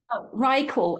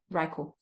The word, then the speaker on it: Ryeqo: RyeQol. And it really upsets me the way you spell it.